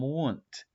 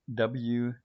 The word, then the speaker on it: Wundt: Wilhelm Wundt. Wilhelm. That's his first name. Last name is Wundt. If you want to pretend you're German, you could say Wilhelm Wundt. But Wilhelm Wundt, that's the American pronunciation.